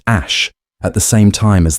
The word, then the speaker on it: Æ: While he regarded on the Joe Rogan experience, he stated that the AE component is pronounced ash at the same time as the A12 component.